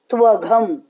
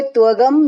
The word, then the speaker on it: त्वघं: भुञ्जते ते त्वघं पापा, भुञ्जते ते त्वघं पापा, त्वघं यहाँ पे घर का आने देना, घ, यहाँ पे त्वगम नहीं बोलना, घ ध इत थ, इसके उच्चारण बहुत अच्छे से आने चाहिए.